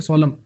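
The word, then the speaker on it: solemn: सोलम सोलम सोलम, इसकी प्रोनाउंसिएशन होती है सोलम।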